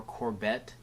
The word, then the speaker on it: Corbet: It's written and directed by Brady Corbet or Corbett. I don't know. It's a it's probably Corbet, like sorbet. It's spelled the same way, but I don't do that much research.